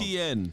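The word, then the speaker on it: Etienne: ETN. ETN. Just think of it as literally the letter T, E, T, and N.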